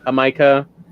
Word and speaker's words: jamaica: mexico called um it's spelled jamaica but it's pronounced like a micah so that was an interesting one it ended